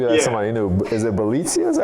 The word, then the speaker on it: Bjelica: Is it Bjelica? Is that how you pronounce his name? It's Bjelica. Yeah, Bjelica, but it's spelled like Bjelica.